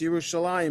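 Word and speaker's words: ירושלים: There's no yud, but it's still pronounced Yerushalayim because you can see, you have to look very closely, under the lamed is the vowel, the kamatz. Next to it is the trope mark, the etnachta, and next to that is the dot that makes the E sound.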